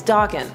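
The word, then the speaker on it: Daken: everybody to yell about how you say his name even though at a Khan they said it was Dawkin so Iceman and Dawkin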